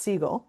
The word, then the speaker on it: Sigal: Yeah, so So, my last name is pronounced Siegel, like the bird.